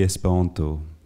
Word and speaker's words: Esperanto: Donc, la prononciation, apparemment, il faut absolument prononcer l'espéranto comme l'italien. Sinon, on parle mal l'espéranto, apparemment.